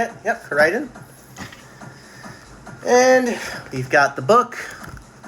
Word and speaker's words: Koraidon: I think it's Koraidon. Is that how you say it? Yep, Koraidon.